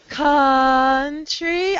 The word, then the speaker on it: country: the country cont uhuh don't change the vowel it's awah country I know you see an O but this o you together makes awah Here country was was